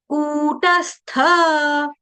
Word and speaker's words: कूटस्थ: कु कु कु कु यहां छोटा ऊ है कोयल सी तेरी बोली कुकु कु ये छोटा उ है। आपको दीर्घ कु गाना है।